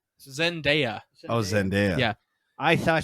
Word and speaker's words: Zendaya: but you know what how do you say zaneta zendaya oh zendaya yeah i thought she did a